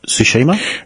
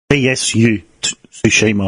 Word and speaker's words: Tsushima: of ghost ghost of sushima yeah yeah uh I feel like you've got the name wrong some I'm I'm sure you're your close well it's TS tsushima was it yeah g of suima